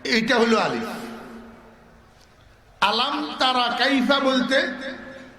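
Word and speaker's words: أَلَمْ: এক জায়গায় উচ্চারণ হরফের, আরেক জায়গায় উচ্চারণ হরফের নামের।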